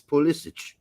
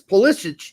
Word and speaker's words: Pulisic: reporters in Italy that his last name is pronounced I.E politic we're close to Croatia so I guess it's pulisic yeah it's pulisic in his home country so I guess he can he's been saying for years ballistic ballistics my guess my